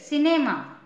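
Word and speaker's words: cinema: आई सी E rice C आई एन ई एम ए सिनेमा है ना इसको क नहीं पढ़ेंगे स पढ़ेंगे क्योंकि सी के बाद आई है तो इसको सिनेमा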